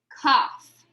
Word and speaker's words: cough: cough he is coughing g h makes that f sound in this word cough cough so maybe i have